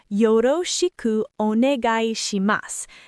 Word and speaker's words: よろしくお願いします: Let me break down the pronunciation because this is a tricky one. Yoroshiku onegai shimasu.